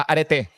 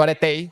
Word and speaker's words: areté: griego y se llama areté areté o cómo se pronuncia en griego aretei. Porque esto en Grecia y me di cuenta que la pronunciaba mal.